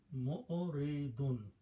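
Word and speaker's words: مُعْرِضُونَ: Mu'oridun, one person. To make the plural, you add a vav and noon and change this to one dhamma and becomes duna. Mu'oriduna, when you stop, you pronounce mu'oridun.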